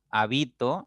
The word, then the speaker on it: habito: Es decir, el acento es distintivo porque permite distinguir entre una y otra palabra. Hábito, habito, habitó. Por eso es distintivo el acento, ¿ya?